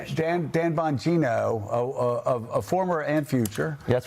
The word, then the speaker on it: Bonino: Dan uh Boingo, I can't pronounce the last name. Bonino, one of our great podcasters, Dan Dan Vonino, a former and future That's right.